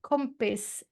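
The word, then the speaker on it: kompis: west no no but that that's cool no compis um k m p i s i okay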